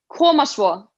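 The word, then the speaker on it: Koma svo: We say komaswo. Yeah, komaswo is like when you're like watching someone play sport, you go like komaswo or something like that.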